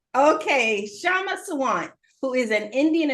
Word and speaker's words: Kshama: There's a very slight K, but it's totally okay. It's hard for Indians to say. You can just call me Shama. Just pretend the K is silent. Okay, Kshama Sawant, who is an